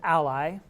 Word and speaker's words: a11y: It's pronounced ally.